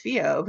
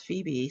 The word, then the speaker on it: Phoebe: I'm like, "No, my character's Fob." And they're like, "No, that's how you pronounce Phoebe, silly."